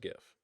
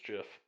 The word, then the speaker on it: GIF: gif or jif uh it's definitely pronounced gif unless you're talking about the peanut butter and then it's most certainly jeff i think the creator came out and said it's jif well he's wrong and we all know